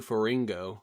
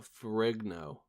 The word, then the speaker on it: Ferrigno: You also said Lou Ferringo, like flamingo, like rhyming with flamingo, but Ferringo. Lou Ferringo. No, Ferrigno. G is before the N, obviously.